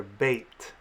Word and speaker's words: Beit: With a dagesh, this letter is pronounced as a B, as in bat. Without a dagesh, it's pronounced as a V, as in vat.